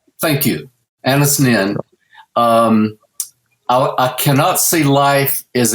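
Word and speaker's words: Anaïs Nin: There's an old quote, I think Anastasia Zen, I can't remember how to pronounce her name. Anis Nin. Thank you. Anis Nin.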